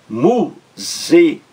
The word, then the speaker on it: músicas: Ouvindo músicas, a palavra músicas, mu-zi-cas, mu-zi-cas, três sílabas. A sílaba mais forte é a primeira logo aí, da esquerda para a direita, a primeira, a antepenúltima sílaba.